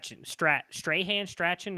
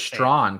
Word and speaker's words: Strahan: It's Prince Strahan. I'm not sure exactly. I thought it was Strawn because isn't his brother Strawn?